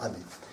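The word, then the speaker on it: 雨: Ame, c'est la pluie en japonais. Donc, ça se prononcera ame.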